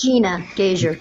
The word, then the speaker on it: Gnagaswar: Gnagaswar, can you pronounce that for me? I'm sure I butchered that. It's Gina Gazer. Gina. I wasn't even close.